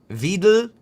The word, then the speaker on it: Weidel: Like, if you're paying at all attention to German politics, this Alice Weidel, I think is how it's said. Alice Weidel. Wait, Weidel. E and I makes I. Weidel. So it'd be Weidel.